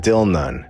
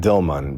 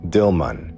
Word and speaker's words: Dilmun: bliss which it locates at Dilan where we know they meant dilman because down here it's spelled correctly dilman now an island in